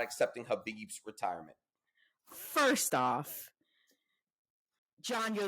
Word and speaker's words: Khabib: Khabib made it clear, or Khabib. Also, thank you to our viewers who have given me the correct pronunciation of his name.